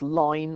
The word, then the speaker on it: ln: So it's e to the x, and it's be the same key as the ln, natural logarithm, which is sometimes pronounced line or lin.